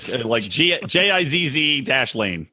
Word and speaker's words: Ghislaine: As I said, I just call her Ghislaine. Like Gizz Lane. Ghislaine.